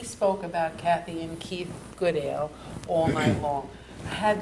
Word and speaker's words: Goodale: And he spoke about Kathy and Keith Goodale all night long. I had to let Ben know he'd been pronouncing the name wrong all of these years, that the name is Goodale, not Goodale.